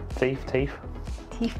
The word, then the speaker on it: Theth: be on the road for 2 hours to Theth National Park. I will find out how it's pronounced.